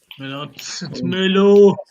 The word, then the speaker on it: Merlot: It's Merlot.